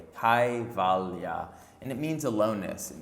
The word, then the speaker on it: Kaivalya: KAIVALYA is K-A-I-V-A-L-Y-A, KAIVALYA.